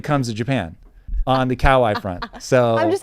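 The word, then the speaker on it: かわいい: My mom came back from Japan and said it's pronounced Kawai. Now, that's an American interpretation. But I would like to say I've got some street cred when it comes to Japan on the Kawai front.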